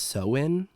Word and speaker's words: Samhain: a Celtic festival that I am going to try to pronounce, and I'm going to say it wrong, but is pronounced Samhain, but it's spelled Samhain. And Okay.